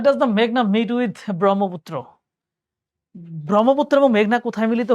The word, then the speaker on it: ব্রহ্মপুত্র: লাস্টে উচ্চারণ হচ্ছে ব্রহ্মপুত্র, অ, আর লাস্টে উচ্চারণ হইলে ওটা নদ হবে।